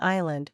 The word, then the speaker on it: Isla: gave up correcting people the same peers that could say Catalina Island without the S would fail again and again to pronounce Isla the same way seriously though Ty batted